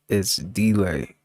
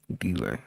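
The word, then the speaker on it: Itsdlai: It's It's delay. It's delay. It's spelled I T S D L A I. Delay.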